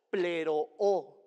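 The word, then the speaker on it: πληρόω: Y la palabra cumplir en el Evangelio de Mateo 5:17 viene del griego original pleroo, tal cual como se escucha con doble O y acento en la segunda O, pleroo, que significa terminar un periodo o una tarea.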